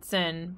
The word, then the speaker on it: Zehn: I think they're pronounced Neun and Zehn. By the way, it's German for 9 and 10.